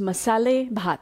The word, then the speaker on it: Masalé: even know how it's pronounced and it's actually pronounced masala Messala means spiced hot in marathi means rice